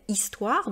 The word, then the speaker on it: histoire: Alors, la lettre H en français est toujours muette, c'est-à-dire on ne la prononce pas.